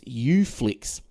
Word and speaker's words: Uflix: Now, Melbourne-based proxy service Uflix, so that's spelt with the letter U, Flix, Flix, which uses smart DNS technology to trick Netflix into thinking you're based in the US.